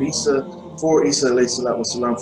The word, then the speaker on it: Isa: And it's also in the Aramaic language of Hebrew, it would be pronounced Isa.